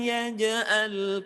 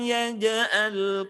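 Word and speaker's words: يجعل: Jadi bacanya bukan alam yaj'al, bukan yaj'al tapi yaj'al kaidahum fi tadlil. Jadi ja-nya perhatikan, jangan sampai kita membacanya yaj'al. Tadi sudah dibahas, ja termasuk huruf qalqalah yang kalau mati harus dipantulkan. Ada suara kuat yang keluar,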